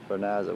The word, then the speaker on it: Vernazza: We're in the middle of a hike from Fifth Town to Vernazza, which is that town right there where we're staying.